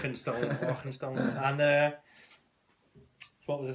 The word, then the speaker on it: Arkenstone: And they don't pronounce the K in Arkenstone with quite the scoutness that you just did. Arkenstone.